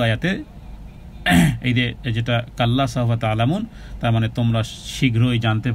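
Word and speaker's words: تعلمون: সাকিন ডানে পেশ, আর আইনের উচ্চারণ গলার মধ্যখান থেকে করতে হবে। তা আইন, আইন আইন, তা'লামুন না, কিন্তু তা'লামুন। কাল্লা সাউফা তা'লামুন, তা'লামুন, তা'লামুন, আইন গলার মধ্যখান থেকে, তা'লামুন।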